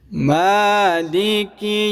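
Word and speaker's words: مَالِكِ: রহিম মালিকি ইয়াউমিদ্দিন। মার মধ্যে এক আলিফ টানবো, খাড়া জবর আছে মিমের উপর।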